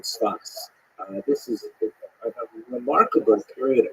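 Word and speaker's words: צפת: in the northern Israel city of saf pronounced in Hebrew spot or spot this is a remarkable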